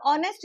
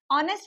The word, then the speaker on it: honest: अब ऑनेस्ट जब हम लिखते हैं एच ओ एन इ एस टी। ऑनेस्ट में भी जो एच होता है वो साइलेंट होता है।